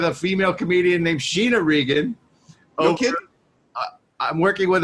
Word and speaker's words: Regan: Well, she's very insistent that you pronounce our last name correctly. Regan. Not Reagan.